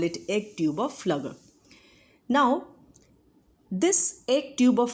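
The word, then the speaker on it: Pflüger: P is silent, so we call it as egg tube of Flugger.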